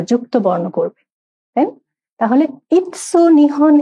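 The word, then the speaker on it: いつ: ইৎসু, ই এবং সু। সু বড় সু, যেটা TSUর মতো উচ্চারণ হবে যখন আরেকটা অক্ষরের পর হবে ইৎসু, তাই না?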